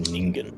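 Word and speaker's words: 人間: But it's pronounced ningan and it means human.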